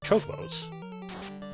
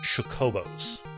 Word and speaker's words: Chocobo: But I didn't know how to say it properly, and I really got my, like, the CH mixed up with sh, so I called them chocobos all the time back in the day.